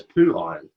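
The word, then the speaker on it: Phiron: if you would like it pronounces as poo iron poo poo iron I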